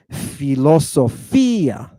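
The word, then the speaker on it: φιλοσοφία: Fi, lo, so, fi, ah. And we put the accent over the iota. So, philosophia.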